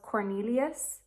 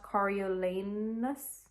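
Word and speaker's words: Coriolanus: for the longest time I thought President Snow's first name was Cornelius but it's not um I learned that when I was reading his name and it's literally not spelled like that it's spelled kolanus kolanus kolanus I've said it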